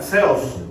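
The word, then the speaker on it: θεός: Zeos es Dios que en realidad se pronuncia Zeus y es muy similar a lo que conocían los gos como Zeus, el Dios de los dioses.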